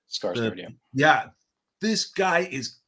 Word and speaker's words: Skarsgård: Definitely, I know I said it last episode, but how do you pronounce his name? Skarsgård? Skarsgård, yeah.